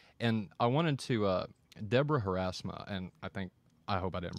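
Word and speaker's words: Haarsma: And I wanted to Deborah Harasma, and I hope I didn't pronounce her name wrong. Harzma is her name.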